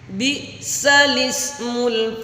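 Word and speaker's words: بئس الاسم: Terus yang materi berikutnya adalah di dalam surah Al-Hujurat, surat yang ke-49 ayat ke-11, tulisan bi'sal ismu dibaca bi'salismu.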